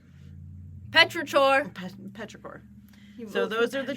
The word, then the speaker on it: Petrichor: Yeah, it also is spelled pretty much how it sounds. It's CHOR. So it's like Petrichor. Petrichor.